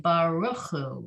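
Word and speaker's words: ברכו: And because they flip it around, they put the shva under the resh, which changes the pronunciation, right? Baruchu.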